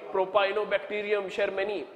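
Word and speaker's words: Propionibacterium shermanii: Propionibacterium sharmani. Just remember, Sharma you have heard about.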